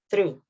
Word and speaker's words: through: So the g sound is not pronounced. There is no g sound in here. Instead, you say through.